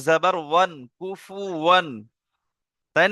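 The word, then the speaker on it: كفوا: কেউ কুফু আন বলবেন না, কুফু ওয়ান।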